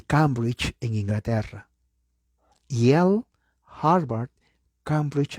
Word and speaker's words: Yale: nivel mundial, Harvard y Yale. Yale se escribe Y-A-L-E, La A es E, la E no se pronuncia y la L, Yale, la Universidad de Yale, ¿ok?